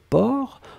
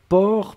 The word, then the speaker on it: porc: la dernière chose c'était port alors souvenez-vous que port on ne prononce pas le ces finales d'accord mais on doit quand même l'écrire donc vous écrivez p o r c'est d'accord donc port per c'est le sait finale n'est pas prononcé